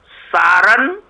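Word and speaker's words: sarin: होते हैं उसमें एक केमिकल होता है जिसको सारण सारन या सारन और उसको सीरन भी बोलते हैं सेरिन सेरिन उसकी स्पेलिंग लिख लीजिए आप एस फॉर शुगर एफ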